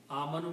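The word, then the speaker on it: آمَنُوا: little circle on it this is called alif Al of Separation it is not pronounced it is always written with plural so this Al if is just written there okay so for one person it is a ma na for more than one person you add a wow as a plural and pronounce AMU amanu means they some group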